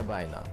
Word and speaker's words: Sabina: सबसे पहले बात करते हैं सेबाइना. Some pronounce it as Sabina, both are correct.